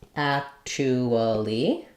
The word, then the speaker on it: actually: First syllable stress. So you can say actually with 4 syllables. More commonly, you'll hear a shorter version, actually.